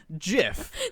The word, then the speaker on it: GIF: at our timeline in june 1987 steve wilheit released the graphics interchange format while working for compyserve and he called it jiff did i not just